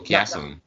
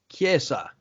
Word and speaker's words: Chiesa: Michael Chiasson. Did you say Michael Chiasson? Chiesa. Damn. Okay. Chiesa? No, Chiesa. It means church, okay? Forgive me. It means church in Italian.